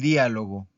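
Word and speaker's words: dialogo: Vamos con el diálogo. El diálogo. Es una palabra, también esdrújula. Porque escuchen. Diálogo. Diálogo. ¿En dónde está la sílaba tónica?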